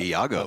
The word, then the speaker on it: Iago: Yeah, we got those pronunciations down, I reckon, APK, especially Peixoto, because we know from our Brazilian friend that Iago. That's how you pronounce it.